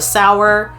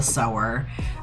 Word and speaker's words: Sower: the sour hi guys editing aaron here i don't know why i pronounced it that way um so just excuse me being a idiot but it is called parable of the sower i don't know why